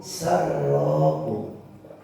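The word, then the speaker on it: سرّه: In asobathu sarrahu, jika dia mendapatkan kebahagiaan. Sarro, kalau kita salah bacanya syarrun pakai sin besar, jadinya kejahatan ya. Min syarr itu ya pakai sin besar ya.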